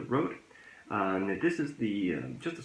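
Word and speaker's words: Røde: I have gone out and bought a, in English, I think it's called Rode. I think that's how you pronounce it. However, if you notice the second letter in the name, that is actually a Danish letter, so I would normally pronounce it differently. But I think you call it the Rode.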